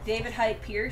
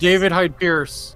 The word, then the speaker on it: David Hyde Pierce: chris rock and oh i always get his name wrong david hype pierced david hyde pierce who played drix is such a great combo